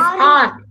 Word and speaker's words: hour: Yes, R. Very good. It's not R. Very good. He said R. Correct. H is silent. It shows the hours.